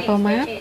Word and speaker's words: fromage: Họ viết có chữ G ở cuối, có nghĩa là fromage, fromage. Thường thì mình sẽ phát âm chữ G ở cuối. Họ thì không, tại sao phải tốn thời giờ?